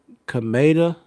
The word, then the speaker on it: Kameda: Uh but the opponent that he fought last of this year, his last name is, I believe you pronounce it Kameda.